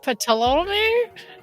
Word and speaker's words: Ptolemy: Ptolemy? That's perfect pronunciation.